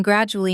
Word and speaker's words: gradually: So, my English has been gradually improving since I started practicing daily. Say that sentence now and notice the stress. Grad-u-al-ly, four syllables, stress on the first.